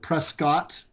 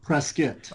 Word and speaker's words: Prescott: Well, if you're an outsider, you pronounce it Prescott. And if you're an insider, you you pronounce it Prescuit.